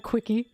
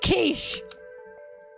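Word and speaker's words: quiche: kich can we have can I have a quickie it's pronounced kich how do I motivate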